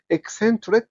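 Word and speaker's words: eccentric: حسب الحرف اللي بعدها السي لو جا بعدها اي او اي او واي بتتنطق اس س عشان كده قلت ايه اك سنترك اك سنتريك يبقى الكلمه دي فيها لاثه سي السي السي السي والسي لو جت في اخر الكلمه ك اوكي يبقى اكسنتريك اكسنتريك معناها غريب الاطوال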